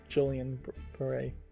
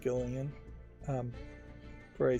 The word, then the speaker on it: Guillain-Barré: Her appearance here might heavily be due to Julian Beret. I think it's pronounced Gillian Beret syndrome, which I've heard more people either claiming to have it or having it.